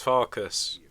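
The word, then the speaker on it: Farkas: I can't pronounce his name without it saying sound sounding bad. Farcus. It's Farcus. I'm not trying. I'm not saying us. I'm saying fuckus.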